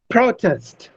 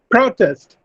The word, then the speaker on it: protest: Similarly, protest. It's protest. The verb is, it is used as a noun if I put a stress on the first syllable, protest. But if I shift the stress on the second syllable, it becomes a verb, protest.